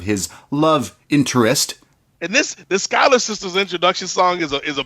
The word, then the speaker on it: Schuyler: And we meet I'm going to butcher the name already, the Schuler sisters. The Schuyler sisters. Schuyler sisters. Yeah, I knew it was that.